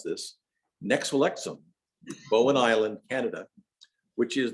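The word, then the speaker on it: Nexwlélexwm: Nuch Lalochem is the actual pronunciation.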